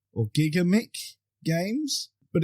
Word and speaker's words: Gigamic: apologies in advance because I'm going to butcher this because it is a French name. I believe it's pronounced Gigamic or Gigamic Games, but it's distributed